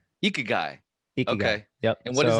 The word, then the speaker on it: Ikigai: How do you say it? Ikagi or Ikigai? Ikigai.